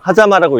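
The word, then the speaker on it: 間: 하자마 사이 간자를 써서 하자마라고 읽어요. 하자마라고 있어요.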